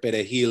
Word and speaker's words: perejil: But it, specifically, it was mostly like the Black immigrants or the Black Dominicans pronounced the word perejil in a particular way, in which the R had a different sound to it.